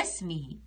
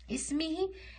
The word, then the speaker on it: اسمه: ننطقها ألف عادية، غير من نقولش ما ننطقش الهمزة. نقول وضم الإله اسمه، اسمه، ما نقولش اسمه، نقول اسمه، اسمه، لأن هنا ما عنديش همزة.